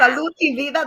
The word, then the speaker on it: Salud y Vida: Salud y Vida, that's how they say it.